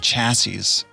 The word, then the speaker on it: chassis: He drinks petrol, chews on tires, dreams of chassis. Chassis is the correct plural pronunciation of chassis. I looked it up.